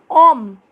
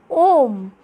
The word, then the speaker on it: homme: Then it is H is arch is homme. So in French, H is pronounced silent, okay? So it is homme, man.